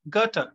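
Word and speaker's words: Goethe: have the german writer gata g o e t h e it is pronounced garter in english and his work autobiographical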